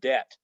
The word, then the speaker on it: debt: consonants come together like the BT and debt we don't say Deb we don't say the b it's silent walk and talk we